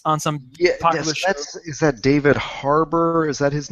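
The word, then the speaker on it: Harbour: I'm not David haror David Harbor and it's like it's like Harbor but it's spelled the British way oh interesting yeah he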